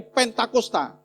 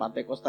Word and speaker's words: Pentakosta: kemudian kita anggap sebagai hari Pentakosta, bukan Pantosta ya. Ya, Bapak, Ibu ya. Itu pelafalan karena enak gitu. Enak diomongkan ya. Pentakosta, pantai kosta itu lebih enak ngomongnya. Tapi kalau pentakosta agak sedikit susah ya. Jadi yang betul adalah penta. Penta itu lima, posta itu 10.